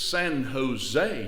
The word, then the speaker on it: San Jose: ahead he said well in California the J is pronounced as an H it's San Jose it's La Hoya I